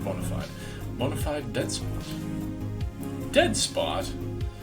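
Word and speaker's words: bona fide: here is a bonafid now people are pronouncing this fide these days but i always pronounced it bonafide so we're going to go with bonafide modified dead spot dead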